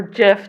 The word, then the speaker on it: GIF: medicine this is a gif of a or jiff depending on how you say it of a newt and